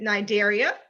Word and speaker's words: Cnidaria: belong to is it cnidaria coralization cetaceans or nidaria spelled with the n all right most of you got that nigeria spelled with a c c is silent all right jada's holding